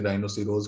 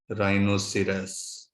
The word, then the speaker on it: rhinoceros: तो राइनोसिरस अक्सर इसकी प्रोनाउंसिएशन गलत प्रोनाउंस की जाती है, जिसे राइनोसिरोज कहा जाता है, लेकिन लोकल लैंग्वेज में हम इसे कह सकते हैं, लेकिन बायोलॉजिकली हमें बिल्कुल सही प्रोनाउंस करना चाहिए, जो कि है राइनोसिरस।